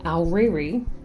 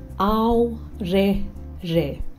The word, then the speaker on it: Aorere: It's not pronounced Aoreri. Try saying Aorere.